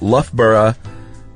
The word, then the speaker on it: Loughborough: My free tip for you is that if you ever have to discuss a place called Loughborough in Leicestershire, Leicestershire, it's pronounced Loughborough in Leicestershire.